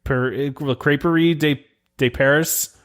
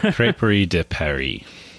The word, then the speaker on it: La Crêperie de Paris: try to even look crep crepery de de Paris yeah I just really butchered that but I don't care it's going to be the crepe place forever crey de Perry there you go see you did it the right way the way it should